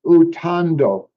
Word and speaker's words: utando: The R, the way you pronounce like the center syllable, ta, Mm-hmm. um, the what you've written is tar. Right. So it'd be more like TAH, ta. So utando There you go.